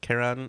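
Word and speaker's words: Chyron: K yeah there's a couple variations on the pronunciation but Karan is correct we're a little off I would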